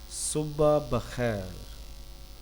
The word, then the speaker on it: Subah bakhair: Subah bakhair.